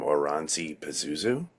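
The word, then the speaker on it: Oranssi Pazuzu: I want to say, now I'm going to get the name wrong, but I saw them Oranzi Pazuzu.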